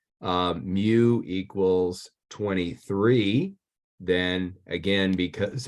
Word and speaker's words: mu: letter mu it looks like a fancy U pronounce mu we learned a lot of Greek in here